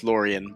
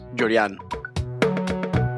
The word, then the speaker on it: Llorian: I'm from New York, where everyone says Llorian, but actually my parents are Cuban, so it's pronounced Llorian.